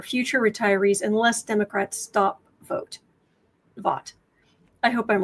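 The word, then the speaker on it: Vought: It's spelled like va, but vote.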